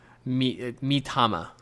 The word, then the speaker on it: Mitama: this word right no that's not how you pronounce it mitama yes mitama these matama you get for completing